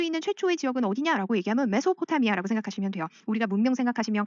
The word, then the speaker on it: 메소포타미아: 메소는 S 발음이 Z 발음, 메조라는 Z 발음이 나기도 하고 S 발음이 나기도 하는데 이게 미들이란 뜻이라고 생각하시면 돼요.